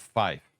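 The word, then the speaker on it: five: And as a little fun bonus fact, the numbers 3 and 5 are supposed to be pronounced tree and fife.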